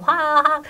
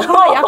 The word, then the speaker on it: 화학: 상태를 유지시키려고 하는 그런 화학 네. 성모 화학이죠? 화학? 네 발음 잘하셔야 돼요 화약 이런 거 안 돼요 입안에서 뭐 다이너마이트가 화학